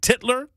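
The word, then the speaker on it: Tytler: from Alexander titler t-y-t-l-e-r now I've heard it pronounced titler and I've heard it pronounce titler and I'm going Tyler um and here's the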